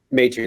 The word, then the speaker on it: Maitrey: He is the CEO of Bloom Health Partners and Maitrey Health. Do I have that pronounced right, Andrew? Maitrey, that's right.